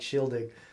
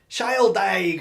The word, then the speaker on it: Shieldaig: was just trying to make sure we pronounce the name right shielding and I you know didn't want us to get a whole bunch of it's child dying or whatever you know so